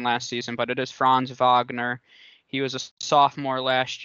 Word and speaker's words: Franz Wagner: player of interest is franz wagner who was a saw that yes that is how you say it he's german and i learned that